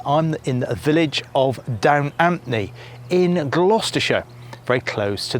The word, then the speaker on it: Down Ampney: sites you'll see that they emphasize that the village has a silent p in other words pronounced Dan amni now I'm from gloucestershire and lots of people know this Village in this part of the world of course and we've always pronounced it down Anthony with ap not a harsh P but it certainly clearly